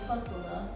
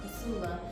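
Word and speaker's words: Kossola: since you since you can't say my name Casula or Casula.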